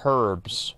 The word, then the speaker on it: herbs: know it's not no it's pronounced herbs right that's why there's the H at the beginning herb okay one second